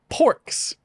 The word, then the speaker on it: Porks: Porks. It's spelled orcs with a P at the beginning.